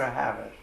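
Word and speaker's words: Havas: And how do you pronounce it? Havis or Havis?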